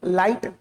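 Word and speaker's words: light: कई बार अगर किसी शब्द के बीच में जी एच लिखा है। जी एच तो उसको पढ़ते ही नहीं। जैसे एल आई जी एच टी लाइट। जी एच का उच्चारण आया नहीं। एल आई टी लाइट ठीक है नाइट जी एच गायब हो गया राइट आर आई टी राइट है ना तो जीए को पढ़ते नहीं है लिखते जरूर हैं पर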